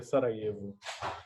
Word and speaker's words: Sarajevo: a cidade chamada sarajevo se escreve sarajevu mas se pronuncia sarajevo então o arquiduque francisco